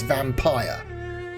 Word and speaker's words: Vampyr: Yeah, so we're playing Vampyr, not Vampyr. Don't make the mistake of pronouncing it as Vampyr. It's not Vampyr, it's Vampire.